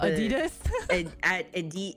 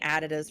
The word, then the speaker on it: Adidas: all white uh I I can't say it properly but added does oh Adidas Adidas Adidas I've been saying additives for so long I'm like no I